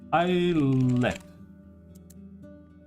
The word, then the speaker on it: islet: Islet. Like, is it, do you pronounce the T? Islet. Yeah, islet. It's like a manlet, but it's an islet.